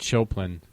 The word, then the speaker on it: Chopin: originally came out Kate Chopin Chopin Chopin joke like the composer again it's spelled the same way to Chopin um just